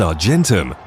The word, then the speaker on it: Argentum: element of silver, AG, which in Latin is pronounced Argentum.